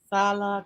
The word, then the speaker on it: Sala: So for stay, we have a long vowel. For work, we don't have long vowel.